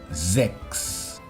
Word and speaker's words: Sechs: Las S a principio de palabra ante una vocal son S sonoras. Z. Sechs. Aunque si no la hacéis tampoco importa demasiado. Las consonantes CHS seguidas se pronuncian como si fuese una KS. X.